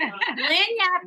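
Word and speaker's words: lagniappe: this one called L do you know what lanat means I don't I don't oh okay well how do we spell a whole trained person lanap in French it's a French term that means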